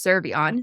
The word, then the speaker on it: Cervellon: of that's perfect for today other than seron so welcome to the pod thanks Phoenix also thanks for pronouncing my last name correctly love that they're